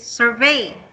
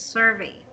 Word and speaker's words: survey: correction for your survey you're saying it's survey the intonation is at the first syllables its survey do you know what